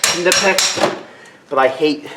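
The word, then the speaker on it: Knipex: that hurt a little bit grab my nipex kpex I actually know that it's pronounced kex but I hate saying that that way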